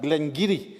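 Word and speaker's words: Glen Garioch: manager will be quick to point out that Glenn giri is the name of one of Scotland's oldest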